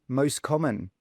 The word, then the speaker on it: most common: we say this one we don't say the T we just say most common most common for example